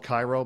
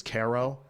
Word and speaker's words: Cairo: If it's like weird upstate towns where Cairo, it's spelled Cairo, but it's Caro.